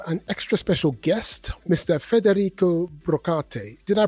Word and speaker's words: Federico: Federrico Brok. Did I pronounce that correctly, Federico?